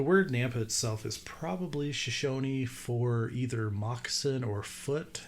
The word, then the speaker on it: Shoshone: the word's probably Shoshone because the town's pronounced Shoshone right she she's shown yeah and then the tribe of Shoshone Shoshone yeah okay perfect show band